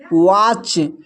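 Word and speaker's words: watch: अब यहाँ पर देखिए यहाँ पर टी सी एच एक साथ है तो यहाँ पर भी टी साइलेंट है। इसको पढ़ते हैं कैच, इसको पढ़ते हैं मैच, इसको पढ़ते हैं वॉच।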